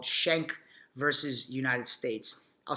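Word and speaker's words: Schenck: First Amendment a pivotal Supreme Court case called shank versus United States I'll spell it for you here s-c-h-e-n CK shank vs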